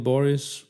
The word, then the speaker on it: Boris: into the anti room she pronounced the name Boris with particular emphasis on the o I can't remain any